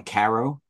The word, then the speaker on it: Cairo: call it they pronounce it in the town Caro but it's it's spelled Cairo New York and there's the oldest